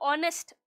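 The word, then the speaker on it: honest: गए यहां पर एन ऑनेस्ट मैन में हमने एन इसलिए लगाया क्योंकि एच जो है वो साइलेंट है और साउंड साइलेंट मतलब ऑनेस्ट ओ साउंड आ रही है वल साउंड आ रही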